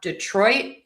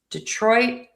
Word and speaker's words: Detroit: So, we have Detroit Lions. Detroit Lions. Also, my T is last released here. So, you might hear Detroit. And it doesn't sound like there's a T.